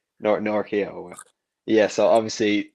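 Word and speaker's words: Nortje: Excuse my terrible pronunciation, but Nora, how do you say it? Norkia. Norkia.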